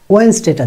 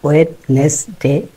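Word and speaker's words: Wednesday: তো টিউসডেটা বাদ দিলাম, ওয়েন্সডেটা যাতে ঠিকঠাক বলতে পারি, ন আর জ হয়, এটা ওয়েডনেসডে না, ওয়েডনেসডে বলতে কিছু নাই, এটা ওয়েন্সডে।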